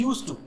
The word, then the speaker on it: used to: डी लगा हुआ है, बट the pronunciation is यूज्ड टू। जब हम बात करते हैं तो प्रोनाउंसिएशन क्या आता है? यूज्ड टू। यूज्ड टू ऐसा नहीं बोलते हैं ना, इस डी पर स्ट्रेस नहीं देना है, इसको जोर नहीं मारना है, फाइन।